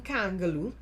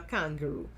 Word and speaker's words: Kangaloo: How do you come out in one breath attacking Christine Kangaloo, president-elect, on the basis of her ethnicity by mispronouncing her last name and calling her kangaroo?